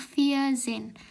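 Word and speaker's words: vierzehn: Angka 14 yaitu dibacanya via Zen. Jadi kalau angkanya belasan itu nyebutnya dulu empat dulu kan empat kan via ya via. Terus eh Zen kan 10. Jadi 14 itu bacanya via Zen.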